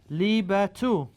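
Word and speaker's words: الطالبةُ: At-talibatu. Right? Lam shamsiya means what? We do not read this lam.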